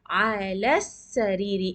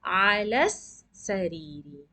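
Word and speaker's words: على السرير: Ala sariri. In this case, the lam is not pronounced.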